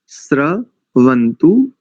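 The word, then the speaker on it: स्रवन्तु: रेफ है इसमें दंत सकार में रेफ है श्र वंतु न बहुत सरल है उच्चारण देखिए ओ शन्नो देवीर भय आपो भवंतु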